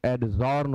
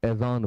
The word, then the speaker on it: adjourn: जैसे ये शब्द आपके सामने है ADJOURN, इसे प्रायः लोग एडजॉर्न पढ़ते हैं, जबकि आपको नहीं पढ़ना है, बिल्कुल गलत है, आप एजॉन पढ़ें।